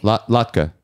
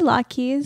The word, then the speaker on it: latke: Latka. I say Lot Keys. You're incorrect. It's an incorrect pronunciation.